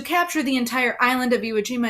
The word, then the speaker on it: Iwo Jima: battle of iwo jima that's how you say it iwo jima very awkward bear with me